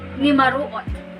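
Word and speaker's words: numaruot: So it's not S, but T. Okay, T. So we have N, U, M, A, R, U, O, T. Nimaruot. Okay, again, nimaruot.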